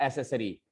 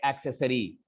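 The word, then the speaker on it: accessory: Sorry बच्चों, अब से आप बोलेंगे एक्सेसरी. एक लगाना है, एक. एसेसरी नहीं बोलना है. ठीक है. सबसे पहला वर्ड मैं फिर से एक बार प्रोनाउंस कर देता हूं. ये एक्सेसरी है, एसेसरी नहीं है, एक्सेसरी.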